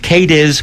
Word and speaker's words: Cadiz: people of kades that c a d i z pronounced kades Kentucky are looking for Glory